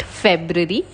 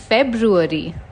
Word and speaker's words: February: women it's women it's not February it's it's February it's not monk it's